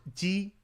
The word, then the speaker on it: ji: I find that with ji, just say it like you're saying the regular J sound in English, like in Jeep, except with the tongue position against the back of your bottom teeth.